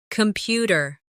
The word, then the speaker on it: computer: Computer. The stress is on the second syllable.